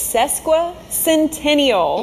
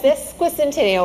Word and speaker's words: sesquicentennial: SESQUICENTENNIal. Yes, SESQUICENTENNIal, or 150 if you don't want the tongue mess up.